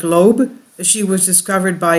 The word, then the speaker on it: Loab: at a disturbing gramas her name is Loeb pronounced like Loeb as she was discovered